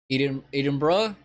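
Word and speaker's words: Edinburgh: know anything about Scotland uh Edinburg pronounced Eden Eden BR is the capital oh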